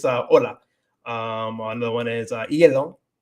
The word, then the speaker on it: hielo: Another one is hielo. It's not hielo, pero it's hielo for ice.